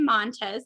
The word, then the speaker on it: Montes: are joined by montez did i say did i pronounce your last name right okay yeah okay it's an s but it sounds like a z so it's all good